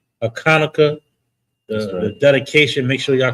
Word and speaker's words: Hanukkah: We got a feast day coming up here on Sunday, Hanukkah, also known as Hanukkah, but the real pronunciation is Hanukkah.